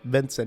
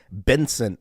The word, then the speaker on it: Vincent: There was that person that made fun of me, Vincent. He's like, "Why are you saying my name like Benson?" I guess I was saying the V's as B's, and then I went home and I practiced.